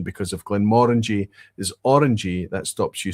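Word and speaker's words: Glenmorangie: they talk about to assist pronunciation because if Glen Morangi is orangy that stops you saying it's Glen Morani because it's never about angie and it's always about orangey so it's Glen Morangi is the proper pronunciation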